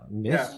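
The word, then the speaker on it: Myst: later than release was Mist. Okay. Yeah. Yeah. Is it pronounced that way? M. Yeah. Mist. Okay.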